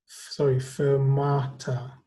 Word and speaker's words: fermata: Okay, we pronounce it fermata.